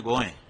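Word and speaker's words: गोंय: वह कोकणी भाषा में गोएं। अभी भी एयरपोर्ट पर हम जाते हैं वहां लिखा है गोएं। गोवा नहीं लिखा है। वह गोवा तो अंग्रेजों का उच्चारण है। गोए गोए माने गाय होता है।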